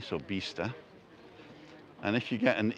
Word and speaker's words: vista: we are back it's vista there's a soft b there at the beginning bista and the i is spelt like an e or pronounced like an e so bista and if you get